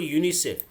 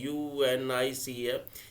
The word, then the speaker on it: UNICEF: तो यहाँ पे देखो यूनिसेफ, यूनिसेफ का एब्रिविएशन का उच्चारण एक साथ होगा।